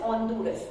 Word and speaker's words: Honduras: Honduras, Honduras. Though we mention as Honduras, but it pronounces Honduras. H will be silent in that particular case.